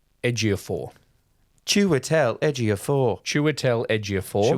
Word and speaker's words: Ejiofor: I've got the pronunciation here for you. Great. It's from Google, so we'll see. Chiwetel Ejiofor.